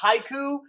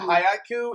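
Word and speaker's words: Haikyu!!: It's not haiku. It looks like it's pronounced haiku, but it's haiku, and it's one about volleyball.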